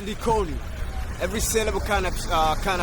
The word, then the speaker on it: Likoni: L I K O N I How do I actually pronounce that?